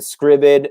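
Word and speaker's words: Scribd: footage uh that i grab off youtube and scribbid i don't know if you've heard of scriven uh sam it's it's spelled s-c-r-i-b-d dot com and you basically can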